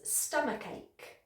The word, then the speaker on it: stomachache: Number 7 is stomachache, okay? And the reason this is tricky is because you've got 2 K sounds in there, okay? So it's stomach with a K sound and then ache.